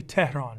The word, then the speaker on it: Tehran: Well, the concept is it's Persian, so it's actually Tehran, right? Tehran.